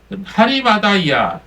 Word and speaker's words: 아리마대: 자, 헬라어 발음으로는요, 좀 다른데요. 하리마다이아, 하리마다야 이렇게 부르고 있습니다. 근데 영어나 우리나라 말로는 이 하자가 빠져갖고 아리마대 이렇게 우리가 부르고 있죠.